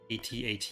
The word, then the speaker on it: AT-AT: AT-AT is the correct pronunciation, but sometimes I like to switch things up a bit.